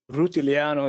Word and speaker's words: Rutigliano: And I want to introduce you to Alessio Rutigliano. Alessio, am I pronouncing the last name correctly? Rutigliano is the perfect Rutigliano. pronunciation. Okay, Yeah. Rutigliano. So I was missing like just one syllable there.